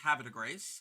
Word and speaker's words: Havre de Grace: Also in the 4th and 5th of May, if you find yourself in Havre de Grace, Maryland, yes, it's pronounced Havre de Grace.